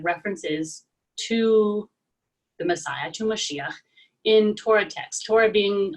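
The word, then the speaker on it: משיח: figure generally speaking it means anointed and it's pronounced here in moshiach being on the middle syllable and i thought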